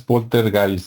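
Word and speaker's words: Poltergeist: los fantasmas y el Porter gay o o bueno polter guys No porque nosotros lo pronunciamos como se escribe pero como es alemán supuestamente es polter guys no y este las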